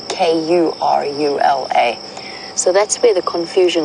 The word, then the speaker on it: Karula: And according to the phonetics of the way that you would spell that in that language, it would be Kurula.